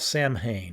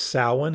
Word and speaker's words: Samhain: witchcraft's soap and scent it is Southern witchcraft Samhain that's incorrect it's salmon is the way you pronounce the kinkosa Gaelic holiday uh pronounced by